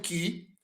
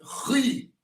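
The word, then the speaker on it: χ: sobre o alfabeto, que algumas pessoas, quando vão pronunciar o ki, eles pronunciam ri. Geralmente a pronúncia erasmiana e a pronúncia moderna, uma das duas, vai pronunciar como ri. Mas a pronúncia que nós estamos utilizando, o ri, ele tem um som de ki, embora seja transliterado pelo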